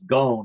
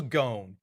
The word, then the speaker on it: Ghosn: In the automotive world, he's known as Carlos Ghosn. It rhymes with phone or bone. Carlos Ghosn.